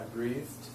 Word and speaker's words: breathed: I breathed. It's one of those where the E is silent with the ED. Instead of breathe it, it's breathed. breathe. It sounds like T.